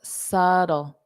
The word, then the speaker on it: subtle: it okay subtle so subtle subtle now you can pronounce it more of a s d so that t can become a flat T and it could sound more like a d subtle d dle d